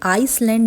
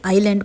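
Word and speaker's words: island: ही सेड this आइलैंड अब देखिए आइसलैंड नहीं पढ़ना है इसे आईलैंड पढ़ना है एस यहां पर साइलेंट है इसका मतलब होता है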